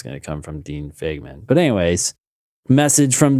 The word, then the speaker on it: Fagman: Is that how he pronounces his name? Fagman, yes.